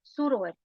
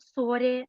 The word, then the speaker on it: surori: Well, we have in feminine some exceptions, like soră, surori, not sore, not sori, okay? Surori.